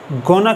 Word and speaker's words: gonna: चलिए इन्हीं एग्जाम्पल्स को हम दोबारा पढ़ते हैं और यहाँ पर हम गोइंग टू को गोना कह के प्रोनाउंस करेंगे। We are gonna buy a new car. I am gonna call you at 8 p.m.